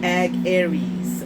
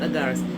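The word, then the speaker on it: Agares: Ag-Aries. Ag-Aries, not Agaris.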